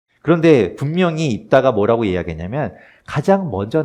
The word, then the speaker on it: 입다: 이야기할 사사는 다라는 사입니다 입다 옷을 입다 이런 입다 같지만 우리가 이제 그렇게 발음하는 것이고요 다라는이 뜻은 그 히브리어로